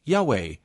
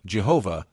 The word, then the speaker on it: Yahweh: to preserve its Holiness Scholars have proposed various pronunciations with Yahweh being the most widely accepted among academics the pronunciation Jehovah emerged in the 16th